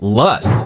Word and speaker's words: loess: These steep hills, which run roughly from Vicksburg north toward Memphis, are made of loess, pronounced luss, which is wind-blown dust deposited during the ice ages.